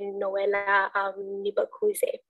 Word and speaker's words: Nibakuze: I hope I pronounced your last name correctly. But yes, Noella works for MAS, but she will be presenting to us a case study on the Rwanda Institute for Conservation. Over to you, Noella. Thank you, and yeah, you did pronounce it well.